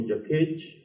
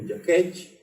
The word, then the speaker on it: Jakech: So if you call me Jakech, that means that's the correct pronunciation, the hungry one. If you call me Jakech, that means the selfish one.